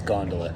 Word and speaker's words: gondola: Okay, we're really not sure if it's gondola or gondola. So we just asked that guy what he says. He says gondola. And so when in Rome, do as the Romans do. We're gonna say it like the Coloradans do.